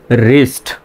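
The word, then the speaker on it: wrist: আর আই এসটি দেখেন যদি শব্দের প্রথমে ডবলিউ এর পরে আর অথবা এইচ থাকে তখন কি হয়? ডবলিউ এর উচ্চারণটা সাইলেন্ট হয়। তো এই শব্দে দেখেন ডবলিউ এর পরে কি আছে? আর আছে। সুতরাং ডব এর উচ্চারণ সাইলেন্ট। তো ডাবলি এর উচ্চারণটা বাদ দিয়ে উচ্চারণ করেন। তো উচ্চারণটা কিন্তু হচ্ছে আর আই এসটি রিস্ট। আর আই এসটি কি? রিস্ট। তাহলে এই শব্দটা উচ্চারণ হল রিস্ট।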